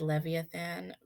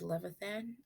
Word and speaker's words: Levithan: video coming up and i accidentally said leviathan but i apologize it's actually david levithan i think i don't know if i'm pronouncing that right but there's no it's not levia it's just love it um but anyways everyday